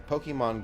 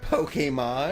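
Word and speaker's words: Pokémon: I'm passenger it's Pokemon it's not Pokemon it's pokemon it's there's an accent above the e it's nothing no no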